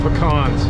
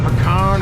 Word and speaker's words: pecan: I love me some pecans. Even though most people from Georgia would say that I'm not saying it right. It's not pecan, it's pecan. Well, I call them pecans.